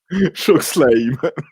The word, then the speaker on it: chokeslam: Chokeslam. Ah ouais, c'est comme ça que ça se prononce.